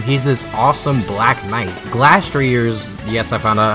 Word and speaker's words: Glastrier: Glastrier's, yes I found out how to say it, design is really just average to me.